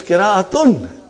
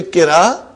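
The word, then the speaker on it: قراءة: It is qira'atun. Are you with me? When you say qira'a, you did not pronounce ta marbuta.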